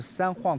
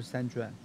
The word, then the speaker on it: San Juan: ，是应该是西班牙语，所以是三晃 Capistrano，不是三砖。如果你在南加州看到一些 J 的发音你觉得很奇怪的话，你就念 H 就好了。